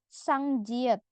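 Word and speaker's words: 쌍지읒: Lanjut yang konsonan ganda terakhir ini ada huruf sang jiet. Jadi huruf jiet ditulis 2 kali. Sang jiet. Sang jiet. Contoh ca, co, cu, cua. Dia tulisannya JJ tapi ya Rabun bacanya C. C-nya tebal. Beda ya.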